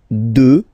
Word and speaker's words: deux: Deux. Final x not pronounced, okay?